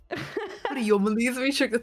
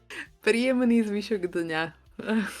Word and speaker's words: Príjemný zvyšok dňa: Príjomný zvyšok. To to bolo trošku také po maďarštené, ale to ja som trošku maďar. Mám to i v pímení. Ježiš. Príjemný zvyšok dňa.